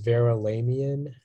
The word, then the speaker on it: Verulamian: The only pronunciation is Verulamian.